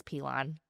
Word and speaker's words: Pilon: So, I've been saying your name wrong forever. Pon. It is Pon.